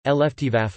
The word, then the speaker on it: Luftwaffe: The Luftwaffe (German pronunciation: Luftwaffe, listen) was the aerial warfare branch of the combined German Wehrmacht military forces during World War II.